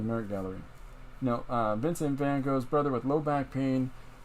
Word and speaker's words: Van Gogh: Okay, I've been going through, and I've discovered that they've now uncovered an entire family tree for Vincent van Gogh, or Van Gogh as we pronounce it.